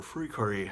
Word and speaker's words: FLCL: So in 2003, this amazing anime named Fooly Cooly came out, or Furikuri, depending upon how you want to pronounce it, came out in 2003